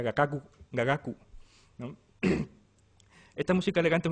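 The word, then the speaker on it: 雅楽: Que esto en japonés, lo que sea de japonés sabréis, se pronuncia gagaku, ¿no?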